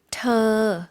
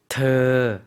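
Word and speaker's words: เธอ: เ ธ อ 네. 더라는 건데 사실 이 발음 한국 분들이 하기 조금 어려운 발음 같아요. 의와 어의 중간 발음이거든요. 다시 한번 들려주시겠어요? ธ อ 네.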